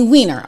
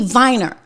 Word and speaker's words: Weiner: And so in German you would say Viner and I get into this fight with my producer.